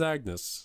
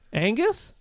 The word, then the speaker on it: Angus: yeah Agnes tell us his name is Agnes Yeah right Angus Agnes really the Angus